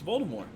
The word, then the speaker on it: Voldemort: It's Voldemort.